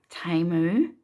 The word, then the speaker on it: Temu: and it's called um I believe it's called TAMU but um it's spelled timu which is t-e-m-u and